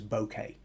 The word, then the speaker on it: bokeh: field they're wanting something with what's known as bokeh or that might be one way of pronouncing it b-o-k-e-h uh translation of the angle-sized